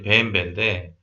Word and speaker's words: BMW: 그래서 어, 원래 명식은 이제 벤베인데 우리나라에서는 그냥 BMW. 근데 외국이나 이런 데서도 그냥 BMW라고 통칭을 하는 것 같더라고요.